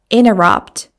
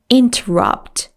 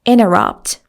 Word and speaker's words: interrupt: Native speakers say it like this. Interrupt. Interrupt. They don't say interrupt. They say interrupt.